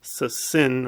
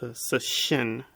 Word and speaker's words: Cixin: He kind of mispronounced the novelist's name. I think he called it Cixin or something. It's Cixin. Shin is the Chinese word for heart.